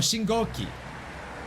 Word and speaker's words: 信号機: I'm pretty sure it's Shingo? Shingo? Is how you say this? 信号機 Oh, Shingoki.